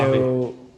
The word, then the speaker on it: Obvi: Now, when it comes to the brand Obvi, hopefully I'm pronouncing it right, correct? Obvi? Yep. Yeah. So Obvi.